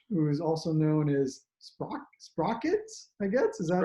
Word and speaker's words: Sprockitz: But, who is also known as Sprockitz, I guess, is that how you Sprockitz. pronounce it?